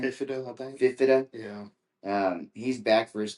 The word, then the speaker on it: Fifita: That quarterback, that Fifta, Noah Fifta, is that how you pronounce his name? Fifida, I think. Fifita.